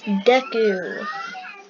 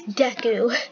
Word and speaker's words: Deku: Hey, look, it's Deku. I don't have any My Hero Academia skins, and don't tell me I'm saying it wrong. It's Deku. D-E-K-U is how you spell Deku.